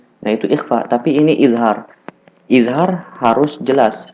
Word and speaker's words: izhar: Apabila ada fathatani atau dua fathah, setelahnya hamzah, maka dibaca izhar.